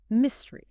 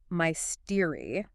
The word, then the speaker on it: mystery: Because looking at the spelling, M-Y-S-T-E-R-Y, it looks like it should be mystery, the stress on the second syllable. Right. Mystery. But English is famous for not sounding like it is spelled. The stress is hard on the first syllable. Mystery. Mystery. It sounds like I missed the bus.